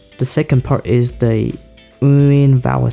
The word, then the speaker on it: Nguyen: First, lower down your voice, uin. Then raise it up very quickly, like uin, uin, uin, uin, uin, uin.